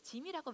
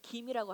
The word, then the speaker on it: gym: 짐이라 그러죠 gym 그래서 짐이라고 많이 써 있죠 짐 원래 발음으로는 사실 짐이라 그러면 안 돼요 김이라고 하는게 맞습니다 왜냐 고대 그스 체력을 달하던 훈련장 그리고 체육관을 뜻하는 김나지움을 줄여서 김이라고 합니다 그래서 짐이라고 써져 있는